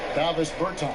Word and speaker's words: Davis Bertans: Oh, now, at this point in my life, it's Davis Bertans. Is that how you say his name? Yeah. Davis Bertans.